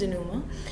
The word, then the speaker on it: denouement: The pronunciation is denouement.